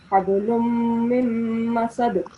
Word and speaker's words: حبل من مسد: So whenever there's a mim mushaddad, we have to make a slight nasal sound and prolong it for 2 seconds. Okay, so we'll pronounce it like hablum mim masad.